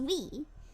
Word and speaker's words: W: I'm W. Oh, pronounced we. That's because I'm always following Winnie around.